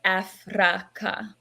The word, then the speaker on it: Afraka: However, I like to pronounce the word as Afraka, because the etymology and the vibration of the word actually does have ancient origins.